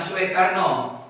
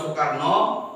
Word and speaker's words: Soekarno: Soekarno itu kalau zaman dulu ejaan su itu menjadi o dengan e. Ya, ingat kan anak? Ya, soe itu kalau zaman dulu ejaannya su menjadi soe. Contoh, Soekarno itu terus Soeharto. Perhatikan ejaan, ya. Yang ada o, u, dia jadi e, o dengan e. Bacanya su, ya.